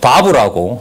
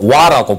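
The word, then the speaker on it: וָו: 이게 1장 1절 앞부분에 보면 바브라고 옛날 공부하셨던 우리 어른들은 와라고 불러요. 근데 요즘은 바브라고 부르거든요. 비읍 발음.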